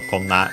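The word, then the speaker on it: こんな: Koso A are unaccented, Do is accented on the first syllable, and so konna in this case unaccented.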